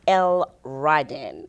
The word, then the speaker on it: L'radin: L. Ryden is the way you say it.